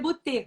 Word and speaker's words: Beauté: Beauté, tipo de beauty, só que é Beauté. Isso, a pronúncia é Beauté, mas tudo bem.